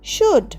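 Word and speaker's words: should: ও ইউ L dish সুড এল এর উচ্চারণ হবে না মানে উচিত ইউ সুড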